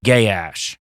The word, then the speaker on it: Gaash: that you use, but it is spelled Gaash, so I will be saying Gaash.